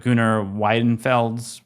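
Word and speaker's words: Gunnar Wiedenfels: I can't pronounce your last name, Gunnar, but Gunnar Widenfelds.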